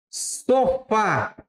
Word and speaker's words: sofá: Por exemplo, se eu disser assim, sofá. Sofá, qual que é a sílaba tônica? É no Fá.